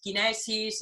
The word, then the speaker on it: Kinesis: Entonces ese nombre, pues bueno, se quedó ahí, que se pronuncia en inglés kinesis, y se pronuncia prácticamente igual en todos los idiomas y eso, bueno, pues me ha permitido mantener el nombre y que sea un nombre internacional.